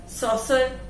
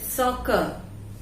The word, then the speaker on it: soccer: इसका pronunciation सॉसर नहीं होता है, ये है सॉकर। This is सॉकर।